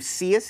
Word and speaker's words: Cius: Okay, so the first story, Cisco Cius, I believe Cius is how it's pronounced, C-I-U-S.